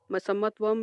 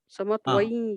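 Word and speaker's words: समत्वं: This anuswara is converted to e. Okay. So samatvai yoga uchyate. Okay, Mahodaya, thank you. If you can also pronounce samatvam yoga uchyate, also correct.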